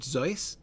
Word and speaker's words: Seuss: Zoe, Dr. Seuss pronounced his name Zoe.